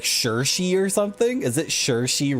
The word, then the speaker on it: Saoirse: Her name is actually like Saoirse or something. Is it Saoirse Ronan? You got to pronounce it like Sowie Reese Ronan.